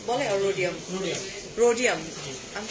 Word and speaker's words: rhodium: Radium বলে আর rhodium. Rhodium. আমি তো radium জানতাম. Rhodium. Radium আর rhodium একই কিন্তু উচ্চারণটা হচ্ছে rhodium.